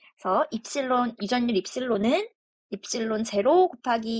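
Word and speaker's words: ε: 더 동글동글하게 그려주면 되겠습니다이 문자를 읽을 때는 입실론이라고 읽습니다 그래서 입실론 이전율 입실론은 입실론 제로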